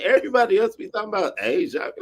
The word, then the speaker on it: Aja: My friend Aja, her name is spelled like Aja, but her name is Asia.